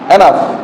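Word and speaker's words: enough: এরপর যদি আমরা লিখি ইনাফ ই এন O Yuji H দেখো ও ইউজি এইচ এরপরে আসছে জি এটার উচ্চারণ হছে কি হয় বন্ধ হ্যা এনাফ কি বলি এনাফ এর যদি আবার যদি লিখি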